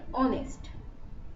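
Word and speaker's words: honest: ঠিক আছে, তারই কিছু এক্সাম্পল দিয়েছি, যে এ horse, A historian, an অনেস্ট। এখানে দেখো এইচ এর উচ্চারণ কিন্তু অনেস্টের বেলায় ও এর উপর জোরটা বেশি পড়ছে, তাই জন্য অ্যান অনেস্ট হচ্ছে।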